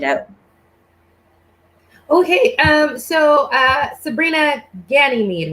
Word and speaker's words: Sabrina Ganymeade: and let it out okay um so uh sabrina ganymede right that's what i did i pronounced it right yeah yeah it's um it's